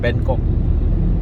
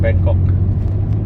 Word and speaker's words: Bangkok: And then after that, art gallery and a club, Bangkok, not Bangkok, Bangkok. Pronounce it properly, ah? Kok. Bangkok.